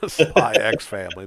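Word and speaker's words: Spy × Family: or for those who read certain mangas, keep calling it Hunter X Hunter, Spy X Family. The X is silent.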